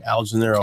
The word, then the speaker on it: Algenelerro: Oh man, you know my Instagram is my first name, Algenelerro. ALG. I'm about to spell it.